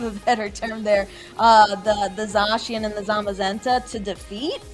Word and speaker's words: Zacian: for lack of a better term there, the Zacian and the Zamazenta to defeat Eternatus.